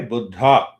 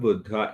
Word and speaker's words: Buddha: that buddha yeah buddha so when we stress on dha that is the real pronunciation but if you say buddha that is how many people here in our country speak buddha so that pronunciation means